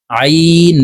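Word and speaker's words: ع: সঙ্গে বলে শিখে নিন আইন জবর আইন হরফকে হলকের মধ্যখান থেকে চাপ দিয়ে উচ্চারণ করব আমরা অনেকে আইনের উচ্চারণ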